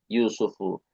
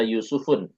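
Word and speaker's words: يوسفُ: Nah, ini ini enggak boleh bertanwin lagi. Yusufu. Kita enggak membaca Yusufun, tetapi Q yusufuatu.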